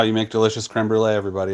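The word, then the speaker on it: crème brûlée: Did I misspell it in the title? It's creme brulee.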